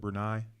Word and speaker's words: Brunei: with a BB are Bria Bria say hey pronounce it Brunei oh she hears or an Indonesian country Myanmar's